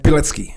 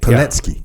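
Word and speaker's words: Pilecki: story of Captain vitto pki am I saying that right petki petki yes in 1940 Captain petki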